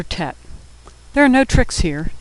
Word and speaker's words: Tet: Next is the letter tet. There are no tricks here. Tet makes a T sound as in tango.